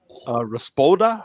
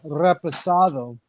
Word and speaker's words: reposado: Espanol, Raspoda. How do you say that, Coach? I'm messing that up. Is my new go-to for tequila. About $20 for a real good tequila. He's trying to say reposado.